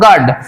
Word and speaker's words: guard: You totally silent আছে, যেমন ধরো গার্ড, GUARD, ধরো আমি জি বাদ দিলাম, GARD গার্ড, একই তো হচ্ছে, অর্থাৎ ইউ থাকলেও গার্ড, ইউ না থাকলেও গার্ড, তাই কিন্তু দেখো এখানে ইউ উচ্চারিত হচ্ছে না, গার্ড।